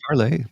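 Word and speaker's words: Parler: social uh so parlay parlay still a thing remember well okay everybody used to call it parlor I'm like no it's parlay oh spelled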